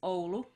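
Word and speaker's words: Oulu: finland uh the name of the town is olu which is spelled o-u-l-u and um it's something like 160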